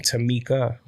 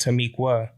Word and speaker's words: Tamiqua: If you saw that TikTok video about Tamiqua, you'll notice that I was pronouncing her name Tamiqua.